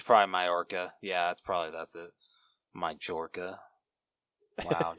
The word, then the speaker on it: Majorca: That I do not know how to pronounce. Majorca? Majorca? It's probably Majorca.